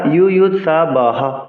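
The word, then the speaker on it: যুযুৎসবঃ: যেমন সমবেতা ইউয়ুৎসবঃ, হ সহ করলে কিন্তু নয় অক্ষর হচ্ছে। আমরা পূর্বেই শিখেছি বিসর্গের জন্য হ আসছে, সংস্কৃত শ্লোক উচ্চারণে বিসর্গ, রেফ, লুপ্তকার অক্ষর হিসেবে গণনা হবে না, উচ্চারণ করব।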